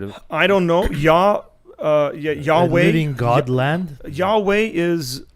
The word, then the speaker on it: Yahweh: Yeah, or Yeah, Yahweh is probably the best pronunciation of it. Yahweh.